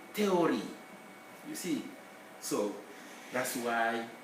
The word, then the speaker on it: théorie: In French, H is never pronounced. So if I write theory in French, don't even consider that H, just say théorie.